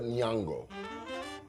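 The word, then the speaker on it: Nyong'o: Will uh Lupita Niango. Great job on pronouncing her name.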